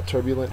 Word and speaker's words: turbulent: of that word uh turbulent has the first syllable of the word accented it means disorderly rius